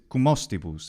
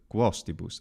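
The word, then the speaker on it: cum hostibus: Despite the problems that we already mentioned, the thing that really stands out to me is cumostibus instead of quostibus. Final M is not to be pronounced solidly as a consonant in front of vowels or, of course, in front of the letter H.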